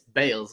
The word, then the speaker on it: Bayles: he's like, "Woody, man, Biwali Bayless is not Bayless, it's Bales, like cricket Bales."